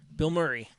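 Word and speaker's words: Bilmuri: ] phenomenal dude um it's not spelled like his name it's spelt b-i-l-m-u-r-i bill murray and if uh if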